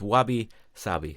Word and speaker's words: wabi-sabi: philosophy of and again I hope I don't butcher the decider but it's Wabi savvy so it's w-a-b-i and then space and then